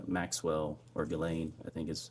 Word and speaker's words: Ghislaine: As best as we know, it's been reported that in 2024, Ghislaine Maxwell, or Ghislaine, I think is how it's pronounced, arranged and wired $1 million to Publicist